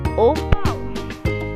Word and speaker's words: o pão: In Portuguese, bread is o pão. Watch out for the pronunciation. It's nasal, like you're pinching your nose.